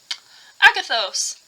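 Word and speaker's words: ἀγαθός: So I went digging and I found that the Greek word in this passage for goodness is Agathos, which I had to look up how to pronounce correctly. Agathos is used for goodness, and that's the Greek version of it is shown right here.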